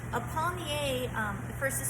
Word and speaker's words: palmier: after a turnover, and this is called a palmier. A palmier, first is spelled P-A-L-M-I-E-R.